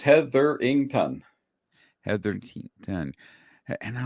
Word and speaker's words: Hetherington: uh you know and your last name is heatherington is that correct is that how you pronounce it yep yep just the way it sounds heatherington had 13 10.